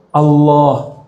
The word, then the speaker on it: Allah: Allah bukan Allah ya kalau Allah itu dalam bahasa Arab itu di belakangnya harus ada I dulu Billah ilallah kalau Il a bacanya o ilallah bukan o juga tapi antara a dan u itu Allah jadi cara baca Allah iniim bukan Allah Allah jadi A tapi cenderung kepada u a cenderung kepada u bukan Allah tapi Al Allah bacanya A tapi lidahnya ngarah ke u Allah Coba sekarang yang